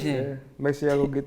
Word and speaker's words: PASTELEVISION: PASTELEVISION. Yeah, that's how it's pronounced. PASTELEVISION.